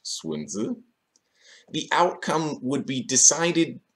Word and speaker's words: Sun Tzu: As Sun Tzu could have told me, and by the way, it's pronounced Sun Tzu, the outcome would be decided before the fight even began.